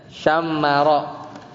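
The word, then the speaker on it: شمّر: Apa bacanya itu adalah bit bitasdidil mim jadi dengan mentasdidkan mim jadi bacanya syammaro itu Isim kayak fi'il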